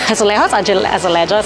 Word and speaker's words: azulejos: Azulejos, I'm not sure. They tend to pronounce the J, and it portrays Portugal's history and methodology.